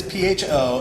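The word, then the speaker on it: phở: we just wanted to teach people the right way to say father that was all right it is pho as everyone says I love pho I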